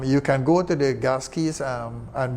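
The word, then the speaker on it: GASCI: Of course, you will set your, you can go to the gas keys, and we say gas key with a hard C rather than a soft one.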